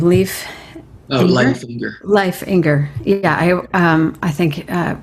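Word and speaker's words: Leif Enger: Leif Inger.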